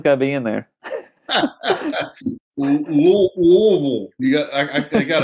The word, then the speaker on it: Louisville: in kentucky we say louisville louisville louisville l-u-l-v-u-l and you got to put some marbles in your mouth yeah you can't get the tongue the tongue's got to be in there louisville you got i i